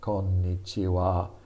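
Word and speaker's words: こんにちは: ha becomes the wa the ha becomes wah only when it's a particle and the particle means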